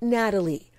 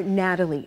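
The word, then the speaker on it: Gnatalie: We're getting a behind-the-scenes look at the more than 75-foot, long-necked green dinosaur Natalie before it's open to the public. Natalie spelled with a G because of the stinging gnats that pestered excavators.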